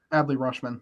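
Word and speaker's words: Adley Rutschman: good uh was it aldi roschmann is how you say his name adley rushman yeah you know they're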